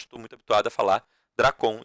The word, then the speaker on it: Drácon: Eu falo de forma paroxítona, tá? Esses nomes, mas tem gente que gosta de falá-los, né? De pronunciá-los de forma oxítona. Dracon, Solon. Eu normalmente falo Dracon, Solon.